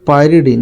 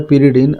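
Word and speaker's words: pyridine: यहाँ एक पायरिडीन, इसको लिखा है पिरिडीन, एक्चुअली इसका स्पेलिंग होता है ये पायरिडीन।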